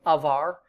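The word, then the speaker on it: עבר: R so uh the way I would pronounce this is just pronounce it like a perfect or masculine singular so like avar you can pronounce it that way it's saying this is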